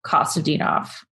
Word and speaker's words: Kostadinov: I really, really liked a lot was Kiko Kostadinov. Yeah. Just wrote about it. That's how you, wait, can you pronounce that?